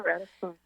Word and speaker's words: Ratisbonne: by the story that you share of Alonsus Ratisban. Is that how you say it? Yeah. Risbone.